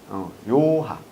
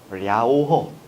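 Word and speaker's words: 遼河: 요하. 요하. 요하. 한자로 쓰면 요하. 요새는 뭐? 랴오허. 왜냐면 현지 발음을 우리가 그대로 쓰기 때문에 랴오허.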